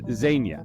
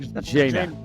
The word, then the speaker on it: Zhenya: I'm going to let Tyler say it because he's better at pronouncing things, but it's Zhenya. It's like Zhenya.